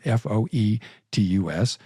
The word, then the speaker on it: fetus: They use the Latin fuus is actually the proper pronunciation of the Latin foe t-us sometimes abbreviated fee tus hence fetus and um they use it to depersonalize to dehumanize the child.